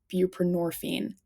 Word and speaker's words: buprenorphine: And I always forget how to pronounce this one. I believe it's buprenorphine.